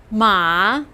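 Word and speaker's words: 马: characters that have to do with transportation ma pronounce with me ma this means horse and it used to be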